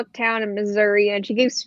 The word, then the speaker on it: Missouri: does it actually pronounce Missouri Missouri that's me I for like some people but misery misery some people from Missouri call it misery as a joke but I feel like